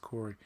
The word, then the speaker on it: Kore: It's spelled Kore. It's pronounced Corey.